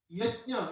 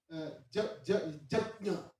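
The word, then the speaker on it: यज्ञ: So you do not say Yajna in Shukla Yajurveda. You say Jatnya. Jatnya. It's actually Jatnya. Also, not Jagga.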